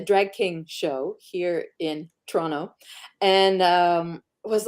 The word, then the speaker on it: Toronto: Now you are you hail to us from Toronto. Yeah. We were having a good time how to pronounce that earlier backstage. Pronto, Tonto, something like that. No, it's Toronto. You don't pronounce the last T.